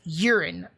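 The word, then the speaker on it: Yurin: but her name is urine that's y-u-r-i-n but it's pronounced urine like your pee i i i it's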